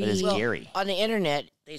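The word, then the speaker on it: Gerry: It bugs me that his name is Gary, and they spell it G-E-R-R-Y. Like a Jerry. Like Jerry. It is Gary. It is Gary.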